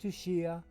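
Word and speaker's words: Tsuchiya: forget how to spell his name but it's pronounced tushia and he uh every now and then you'll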